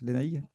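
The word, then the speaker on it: Lénaïg: C'est bien comme ça qu'on prononce, Lénaïque?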